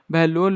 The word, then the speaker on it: बहलोल: Spelling थोड़ी गलत है, लुल नहीं है, लोल होगा वो, बहलोल लोधी।